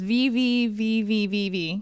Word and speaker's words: VVVVVV: that's a good time I don't know how to pronounce this vvvvvv yeah I think you did it yeah that's right it's it's six capital V's and it's a lovely